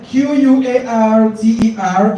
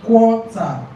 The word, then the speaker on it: quarter: please take this correction the c u tt e r is the quarter quarter right then q u a r t e r is quarter quarter okay yes please yes